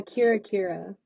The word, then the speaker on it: Kira: The next song is it pronounced Kyra or Kira? Uh, Kira. Kira.